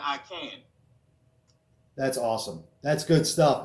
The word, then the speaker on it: Aikan: AIKAN, and it's pronounced I Can, so it's like I Can Act.